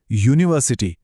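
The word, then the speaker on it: university: आहे म्हणून अन आवर आणि आता बघा युनिव्हर्सिटी इथे स्पेलिंग यु ने सुरू होतं जो एक स्वर आहे पण उच्चार काय आहे युनिव्हर्सिटी यचा आवाज येतोय जो एक व्यंजन आहे म्हणून मग ए युनिव्ह्सिटी पाहिलत इट्स ऑल अबाउट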